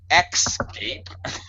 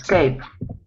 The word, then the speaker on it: escape: You should not say Xscape. You should say what? Escape. Escape. Escape. Escape. There's no X sound. Just the S sound.